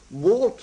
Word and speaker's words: Wart: Wart more or less rhymes with Art.